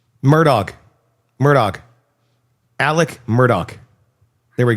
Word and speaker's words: Murdaugh: I I have not been able to think this entire segment because how the is this name pronounced? Murdoch.